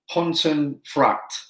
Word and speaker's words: Pontefract: Pontefract.